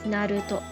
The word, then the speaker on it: Naruto: becomes top put that all together and becomes Naruto second example is this we'll follow the